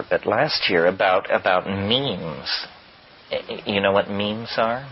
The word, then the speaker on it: memes: last year about about memes you know what memes are memes are the smallest units of a concept they're like genes the word is deliberately constructed to to rhyme with gene and so when i